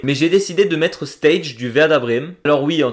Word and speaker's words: Stage: que fan du verdabm j'ai toujours dit stag en tout cas c'est comme ça que ça s'écrit mais il est Danois je me suis renseigné ça se prononce stage voilà et ben pour